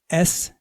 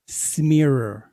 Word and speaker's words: Schmierer: My name is spelled Schmierer. It is pronounced Schmier, not Schmierer. I will never smear you.